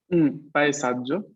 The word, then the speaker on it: paesaggio: Paesaggio.